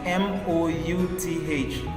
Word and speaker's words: mouth: l Soul then in m o u t h can you guess what that spells mouth mouth mouth m o u t h so here oou is making an ow sound ow sound mouth also